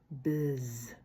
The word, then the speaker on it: біз: Вот эта палочка с точечкой звучит как э бз.